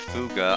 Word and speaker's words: Fuga: And then, of course, people already know my thoughts about Fuga. I love Fuga. It's pronounced. I think they said it's pronounced Fug, but I don't care. I'm calling it Fuga because that's how it's spelled.